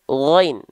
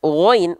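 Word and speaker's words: غين: menganggap bahwasannya huruf ghain ini dilafalkan persis sebagaimana kita melafalkan huruf G pada abjad alfabet? Ada? Nah, maka itu keliru. Ya, kalau teman-teman melafalkan ghain menjadi huruf G, plak ketip plak huruf G, maka dibacanya nanti begini bacaannya. Faja'alahu gutha, gutha, enggak gutha, bukan G. Ya. Jangan sampai mentang-mentang huruf ghain dilatinkan itu dengan huruf G, oh berarti huruf ghain itu huruf G, beda.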